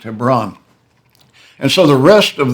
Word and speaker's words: Hebron: looks like Hebron to us but it's it's pronounced Hebron and so the rest of the Book of